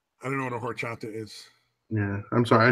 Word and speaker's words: horchata: don't know what a horchata is yeah I'm sorry I shouldn't pronounce the H it's pork chop that